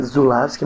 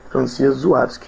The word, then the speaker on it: Żuławski: Seria Zulawski, mas é um L com um tracinho, pronuncia Żuławski.